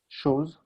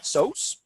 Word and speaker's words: shows: Shows. Shows. You said so's. So make sure you get that sh sound with that.